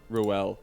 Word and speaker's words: Rael: Raul? Rail? Rael? Raul. Raul. How do you actually pronounce it, Harry? Be honest. Ruel. Ruel. I knew it! I was literally saying Ruel this whole time.